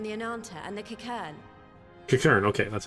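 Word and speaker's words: Qiqirn: Kikern, okay, that's how you say it.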